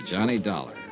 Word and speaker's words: Johnny Dollar: It's Dollar, Johnny Dollar. Dollar, huh? Yeah, rhymes with collar.